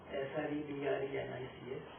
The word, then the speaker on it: Srebrenica: You probably pronounce it differently in your mind when you read this word Srebrenica, S-R-E-B-R-E-N-I-C-A, but it's pronounced as Srebrenica. I served in Yugoslavia, so I know exactly what the pronunciation is.